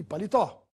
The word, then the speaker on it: palitó: é uma palavra paroxítona e a palavra palitó tem a sílaba mais forte na última tó e é portanto uma oxítona vamos ver as regras de